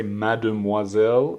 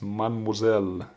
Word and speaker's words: mademoiselle: Same for the word mademoiselle. You don't say mademoiselle, it's pronounced mademoiselle.